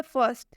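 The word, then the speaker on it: first: ठीक है, next example आप देखिए, फर्स्ट, यहाँ पर लिखा हुआ है फर्स्ट, लेकिन इसमें ये जो आर है इसका उच्चारण नहीं हो रहा है। इसे हम पढ़ते हैं फ आधा स और ट।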